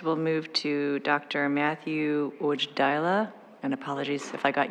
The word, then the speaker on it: Wojdyla: Matthew Ujdaila, and apologies if I got your name pronounced incorrectly. Thank you. Hello, my name is Matthew, Medical Director for Sobi, Inc.